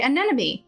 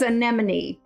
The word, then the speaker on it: anemone: are absolutely correct but i always used to say an enemy but no it is anemone anemone i remember specifically because